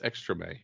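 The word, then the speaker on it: Extrême: I think it's pronounced Extreme X-Men. I believe it's Extreme. It's French. Extreme?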